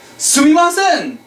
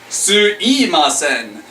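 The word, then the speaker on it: すみません: You want to keep it polite, so be sure to pronounce sumimasen. However, in casual conversation, we can also say suimasen. Why? The mouth is lazy.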